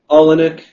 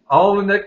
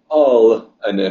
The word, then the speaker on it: Olenick: Yeah, Olenek. Olnick. Oh, got to put another little vowel in there. Yeah, exactly. Olenek.